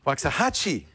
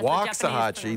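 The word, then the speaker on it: Waxahachie: right there wax a wax a Hatchy waahi waxahachi all right waxahachi nice to see you Jason what can we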